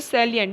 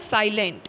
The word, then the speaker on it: salient: Salient features of the ethical dilemmas, you can pronounce it's a salient, not a silent, it's a salient.